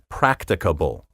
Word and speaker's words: practicable: for workable or doable try practicable that's four syllables practicable spelled p r a